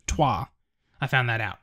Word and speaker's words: Troyes: a friend purchased me Troy's sorry it spelled troy st ro y es which is actually pronounced tois i found that out named after a French city this game is a